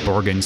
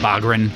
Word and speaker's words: Bogren: Borgen stuff. Bogren. I always say his name wrong.